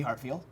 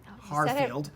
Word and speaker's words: Harfield: We have now been joined by Elisa Wallace and Hartfield. Harfield. I said it wrong. I put the T in. There's no T. No T in Harfield.